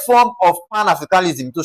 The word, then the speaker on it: Pan-Africanism: So, because it ends with -ism, we're going to what now? Ignore pan and then we're going to stress what now? A.